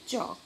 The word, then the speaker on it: chalk: Example, K-N-O-W, no, M-U-S-C-L-E, muscle, D-O-U-B-T, doubt, C-S-A-L-K, chalk. The highlighted letters are not pronounced while saying the words.